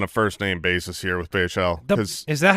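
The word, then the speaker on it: Bhayshul: We got to be on a first-name basis here with Bayshell. Is that how you say his name? That's the problem. Yeah, is it Bayshul? It's Bayshul. Bayshul?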